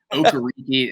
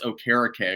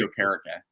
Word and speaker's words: Okereke: Yeah, he's actually changed the pronunciation multiple times himself. It was Okereke, and now it's Okereke according to him. So it's Bobby Okereke.